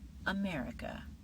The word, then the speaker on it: America: Next, America or America The natural pronunciation is America with the stress at the beginning.